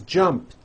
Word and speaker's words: jumped: So when you put it in the past tense, all you do is add a T. So jump becomes jumped, with a T sound at the end. Jumped. Of course, the word is spelled with an ed ending. It's just pronounced as a T.